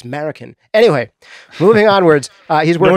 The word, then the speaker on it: Marroquin: And a lot of people said, why are you saying his name wrong? It's Marroquin.